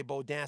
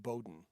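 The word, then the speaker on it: Beaudin: bowden bo dan spelt the french way but no one no english person wants to say bo dan so when i got into radio in 83 i think it was i decided to pronounce it bowden so it's b-e-a-u-d-i-n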